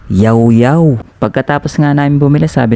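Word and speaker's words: Llaollao: Kung yung basa niyo diyan is lawlaw or ilaw-ilaw, pwes parehas tayo ng binabasa. Pero hindi pala ganun ang tamang pagbigkas at pagbasa ng kanilang pangalan. Ang tamang pagbasa daw dito is yawyw.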